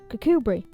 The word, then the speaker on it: Kirkcudbright: used to have railway stations, like Portpatrick or Kirkcudbright. And yes, that is how you pronounce it.